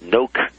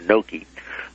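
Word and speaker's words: Knoke: And it, at the first of this chapter, I indicate that William, I guess you pronounce it Noke, K-N-O-K-E, or Noke, was a founder and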